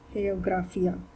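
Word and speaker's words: geografía: It sounds like English H. Hey. Heyo. That's the first syllable. Second syllable, gra. And third syllable is fia. Heographia. So you see, when we are saying gra, we are not putting a lot of stress onto it. Heographia. Just a weak sound and we are okay with it.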